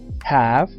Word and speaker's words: have: Had Had has having la forma base de este verbo Inicia con una H que normalmente en inglés suena como en el sonido de una J en español Ja y termina con una v y una e la letra e no suena pero el sonido que emite es el sonido que emite una F se pronuncia en la